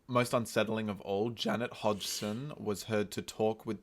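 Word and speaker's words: Hodgson: hod hod hod I don't know how to pronounce it hod hoden hod it's h o d g s her name Hodson it is yeah Peggy Hodson a single mother of four reported that her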